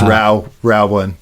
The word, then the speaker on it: ROW1: It's pronounced Row one.